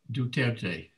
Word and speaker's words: Duterte: um i do think is this guy's name pronounced du tuerte or duterte i believe is that right ed yeah yeah he's just like